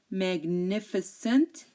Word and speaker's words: magnificent: Again, if GN is in the middle of a word, most of the time we do pronounce the G. Like ignore, you hear the G. ignore, magnificent, magnificent, signature, signature. You do hear the G when I'm pronouncing these words.